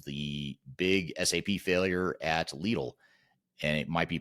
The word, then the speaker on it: Lidl: I think in Germany they say Lidl, but in other parts of the world they say little, from what I understand.